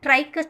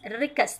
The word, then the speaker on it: rhynchus: Not trichus, children. Trichus. Don't pronounce trichus. Rhynchus. That's all.